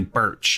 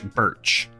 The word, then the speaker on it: Burch: they also listed Ashley Bush you know um and I have no idea if I'm getting her her last name wrong so I'm really sorry Ashley Burch Ashley Birch yes not Bush Birch and she's she is